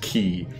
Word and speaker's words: Quay: curse of the moon key the uh the q-u-a-y in is pronounced key in in vancouver we